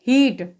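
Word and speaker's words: heat: ठीक है, इसी प्रकार एच ई ए टी तो यहाँ पर ई ए एक साथ आ रहा है तो इसका भी उच्चारण ई के रूप में होगा। तो क्या पढ़ेंगे इसे, हीट।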